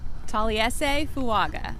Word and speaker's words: Taliese Fuaga: You have the pronunciation? Taliese Fuaga.